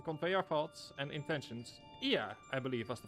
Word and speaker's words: Ea: When the vibration of vocal folds was still required to convey our thoughts and intentions, Ia, I believe, was the pronunciation used when referring to our people.